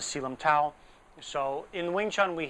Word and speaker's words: Tao: I guess the actual correct pronunciation of it is dao, not tao, but everyone says selum tao.